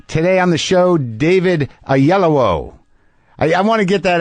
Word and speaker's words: Oyelowo: Today on the show, David Oyelowo.